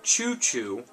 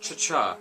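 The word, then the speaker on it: ChuChu: hate mail for this but um uh it's pronounced choo choo i pronounce it cha-cha because that's just how i've pronounced it all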